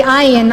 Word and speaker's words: Ayin: They saw the Ayin unfold. That's spelled A-Y-N, but it is pronounced Ayin.